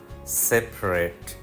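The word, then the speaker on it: separate: এবং ভার্ব হতে পারে এডজেক্টিভ হলে শব্দটা সেপারেট সেপারেট পি এর পরে যে এ বসেছে সেটা সাইলেন্ট সেপারেট ভার্ব হিসেবে এর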